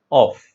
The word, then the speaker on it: of: look at the if you look at the pronunciation of the word of f it's a preposition right off of so it is just one syllabic it